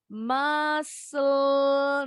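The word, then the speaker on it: muscle: kita lanjut lagi mesul nah ini yang nggak bunyi c nya massalnya di balik ya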